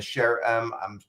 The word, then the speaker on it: SHAREM: Uh, this particular session we're going to be talking about shell code or the sherm is that you pronounce it? Sharum.